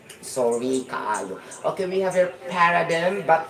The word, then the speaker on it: paradigm: uh Para dim actually before my pronunciation for this is Paradigm actually this is a